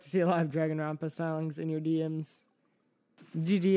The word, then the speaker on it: Dragonrompa: Para, I pronounce it Dragonrompa. Dragonrompa. It's really hard to say in and P together. Those I don't think those were really designed to go together like that.